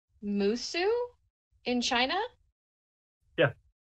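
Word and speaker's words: Mosuo: I have actually been looking into the, I think it's pronounced Musu in China.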